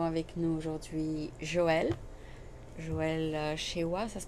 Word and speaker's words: Cheuoua: après-midi nous avons avec nous aujourd'hui Joël Joël Chewa ça se prononce c'est ça c'est ça OK et donc